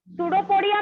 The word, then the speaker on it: pseudopodia: सूडोपोडिया में P silent होता है।